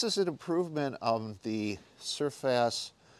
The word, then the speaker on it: Serfas: the company is spelled surface or I think it's pronounced surface which sounds like surface which is another bike company but they are two